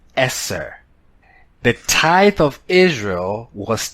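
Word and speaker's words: עשר: that very soon the Hebrew number 10 is pronounced Esser the tithe of Israel was termed Marseille that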